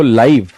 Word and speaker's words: live: जैसे आपके पास शब्द है LIVE, अगर आप इसको प्रोनाउंस करते हो लाइव, तब तो ये क्या बन जाता है, ये बन जाता है एडजेक्टिव।